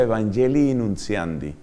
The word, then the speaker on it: Evangelii Nuntiandi: Se escribe Evangelii con doble I al final, Evangelii Nuntiandi. Se pronuncia Evangelii Nuntiandi.